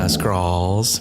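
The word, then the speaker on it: Skrull: said it right okay scrawls really pronounced the the aw sound you know yeah I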